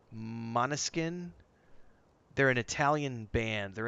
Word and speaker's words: Måneskin: But Måneskin, I think is how you pronounce their name. It's not Mainskin, it's Måneskin, I believe.